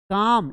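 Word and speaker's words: calm: काम यहां पर एल साइलेंट है।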